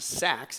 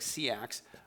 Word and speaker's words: Seax: So he came up with what's called, I believe it's pronounced Sax, even though it's like Seax, Seax Wicca.